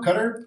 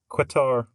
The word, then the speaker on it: Qatar: troops uh I complete everybody knows how to pronounce uh Qatar now cutter cutter now because I think guitar but with a Q quatar guitar so everybody because